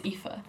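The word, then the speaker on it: Aoife: because it's Irish and her name is readed as epha so I am really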